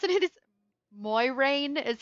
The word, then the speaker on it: Moiraine: Officially, it's sort of pronounced the French way, but not quite. It's like Moiraine.